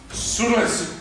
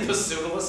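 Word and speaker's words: Pseudolus: suus suus yes hysterium suus pronounced perfectly do you know how many people say pus I hate it how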